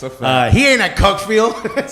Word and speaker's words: Cuckfield: He ain't at Cuckfield, said Nick Red. Shouts to Cuckfield. Real team. Cuckfield. They pronounce it Cookfield.